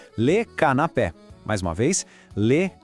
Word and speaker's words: canapé: A pronúncia é le canapé. Mais uma vez, le canapé. Percebe o acento no E? É ele que deixa o som bem aberto, pé.